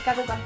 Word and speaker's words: Kaguga: How do you call yourself? Kaguga. Kaguga? Like that.